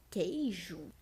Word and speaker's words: queijo: Já a palavra queijo, nós temos três vogais juntas que ficam na mesma sílaba, porém nós não pronunciamos o som do U.